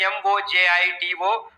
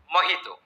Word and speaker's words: mojito: It is spelled as M-O-J-I-T-O but pronounced as mojito because it is a Spanish word. In Spanish, J is pronounced as ha.